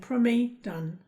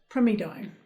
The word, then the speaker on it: primidone: I could say primidone, but you actually pronounce it primidone.